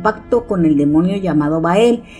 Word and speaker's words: Bael: rito de Anthony Hopkins pero ahí lo pronuncian como baal pero en realidad se refiere al mismo ente Y es que según los datos bael era un ángel al